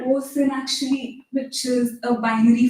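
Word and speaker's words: OSON: stored as something called OSIN, which is a binary format that was developed by Oracle. So does it rhyme with awesome? Sure.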